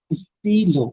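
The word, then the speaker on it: stylo: এটা হচ্ছে স্টিলো, স্টিল বলে নাম, স্টিল ওরকম একটা লো, স্টিলো, ফাইন স্টিলো মানে হচ্ছে স্টিলো, কলম।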